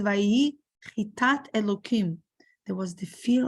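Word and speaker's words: חת״ת: Chitat, or in Ashkenazic pronunciation, we say chitas.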